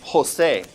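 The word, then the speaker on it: José: For example, for example, the name Jose, we're going to breathe that J like an H in English.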